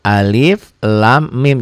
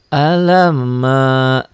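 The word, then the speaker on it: الم: r i a itu Alif Lam Mim enggak boleh Enggak boleh alamma orang kaget Aduh Quran kok beda ya orang bacanya baru orang malif Lamin ini Alama Oh ternyata dia dibaca jangan dibaca ini ya dibacanya dibaca seperti membaca ee ejaan gitu ya membaca huruf aslinya ini huruf-huruf muqata atauatus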